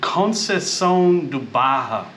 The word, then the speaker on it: Conceição da Barra: dark we arrived late but we are in cones duaja it's how you say it it's like the